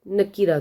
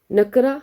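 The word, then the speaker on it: نكرة: अल नकीरा तु नकरा हम उर्दू में नकरा बोलते हैं लेकिन यह नकीरा होता है य यह ख्याल रखिएगा आप क्योंकि अरबी सीख रहे हैं तो फिर उसको उसी तरह से प्रोनाउंस भी करना है इंशा अल्लाह इस्मिता हैं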